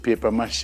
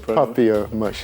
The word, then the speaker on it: papier-mâché: What will you pronounce it? Paper mache? I said papier mache.